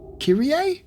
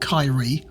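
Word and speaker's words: Kirie: of mine all right so it's Kiri kir kir I think that's how they're pronouncing that so it's not Kyrie or Kiri it's kir fair enough [ __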